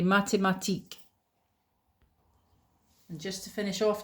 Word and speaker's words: mathématiques: la philosophie philosophy J'étudie les mathématiques. mathématiques There's the accent again. You don't pronounce the S at the end, okay? les mathématiques And just to finish